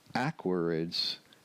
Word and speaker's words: Aquariids: But Aquarius, going from Aquarius, where the accent is on the second syllable, to the Aquariids, accent on the first syllable, that's a little bit of a jump.